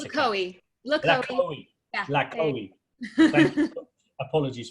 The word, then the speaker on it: LaCohie: How do you pronounce it? LaCohie.